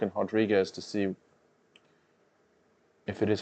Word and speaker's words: Rodriguez: it is that Marina she is yes Brazilian so I'm gonna say it's pronounced Rodriguez here's the thing with with Brazilian the r's are H's but uh Alex Pereira